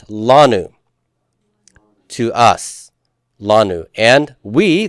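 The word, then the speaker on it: לנו: Now we get to the last one, and it's not lanu, but lanu. This is the only place where we have first syllable stress when there's two syllables. So you need to make sure you put that accent mark on the lamed.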